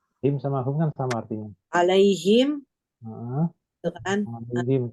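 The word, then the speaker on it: عليهم: Alaihim. Kenapa him? Karena sebelumnya ya mati.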